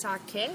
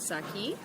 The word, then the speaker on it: sake: Yeah, it is pronounced sake, not saki. Yeah, just like any other Japanese words, if you pronounce the vowels just as in Spanish or Italian or Hawaiian, you're safe.